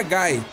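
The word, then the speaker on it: Guy: sobre a pronúncia dos nomes dos personagens a pronúncia que seria seria mais correta para hagar é hagar e do Gui seria Gai porém eu chamo os dois de hagar e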